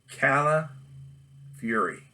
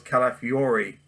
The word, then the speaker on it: Calafiore: they had jim calpury everyone knows cala fury is his name i i thought it was calafiore califury that i've been saying it wrong this whole time luckily i call him